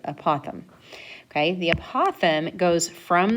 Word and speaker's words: apothem: you is apothem okay uh pothom that's how you pronounce it apothem okay the apothem goes